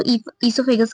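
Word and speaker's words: oesophagus: ओसाइलेंट होता है इसलिए हम इसको इससोफेगस कहते हैं।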